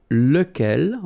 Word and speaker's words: lequel: masculine so it will be as we saw look L ok so remember you get to pronounce it look L even if you get